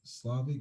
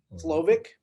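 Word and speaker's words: Slovis: To see Jack go against, Kevin was Slavic. Is how you say his last name? Slovic.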